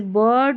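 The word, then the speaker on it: bird: चलिए आई के बाद में आर रहता है, इसको अर करके प्रोनाउंस करते हैं, यानी कि आई के बाद में आर रहता है ना, इस आई का उच्चारण अ होता है। देखिए आई के बाद में आर है, इस अ को हम अ पढ़ेंगे और आई आर को अर, जैसे बर्ड, गर्ल, फर्स्ट, शर्ट।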